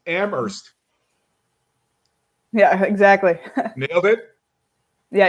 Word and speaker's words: Amherst: well being from there you don't pronounce the H right it's Amherst yeah exactly middle bit